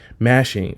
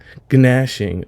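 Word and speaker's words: gnashing: Nashing of teeth, ganashing of teeth, but the G there is silent, so you cannot pronounce it.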